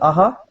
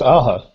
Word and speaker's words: Aja: Was it Aja? How is it? How is his surname pronounced? Does anybody know? I think it's Aja. Aja. Yeah, like the 80s band.